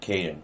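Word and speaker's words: Kaiden: a dash in there k-a-i-d-e-n -k din well I always had dashes for pronunciation reasons good uh anyway I uh go Caden hold on for a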